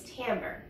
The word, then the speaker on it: timbre: final word that you need to know is Tambor it's felt kind of weird but it's pronounced among TI m vr e and what Tambor is is the unique sound that each instrument